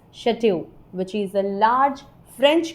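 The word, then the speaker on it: château: What is this pronounced as? Chateau. It's chateau, which is a large French country home or castle.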